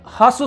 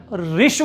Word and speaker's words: ह्रस्व: इसे ह्रस्व स्वर कहा जाता है, लेकिन इसका सही उच्चारण ऋष्व होता है।